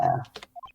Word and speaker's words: heir: Air is pronounced without pronouncing the I was heir, H. but I was drunk, okay, leave me alone. It's like how you pronounce the letter H without you actually pronouncing it. Anyway. I know, it's pronounced air.